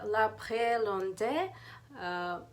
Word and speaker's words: L'Heure Bleue: So it meant to be it translate if correct if trans if pronounce it in French it would sound like uh L'Heure Bleue um air uh after the showers, after the rain.